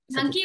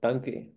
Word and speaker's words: Dunki: Dunki or Dunuk? Are you talking about Dunuk? No, Dunki. I'm like totally mispronouncing the movie, but I checked it with the executive producer of the show.